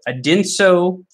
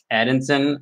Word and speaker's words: Adinso: And every single time I pronounced it Adinson or something. But it's Adinso, as it turns out.